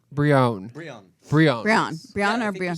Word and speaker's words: Brionne: No, Brionne. Brionne.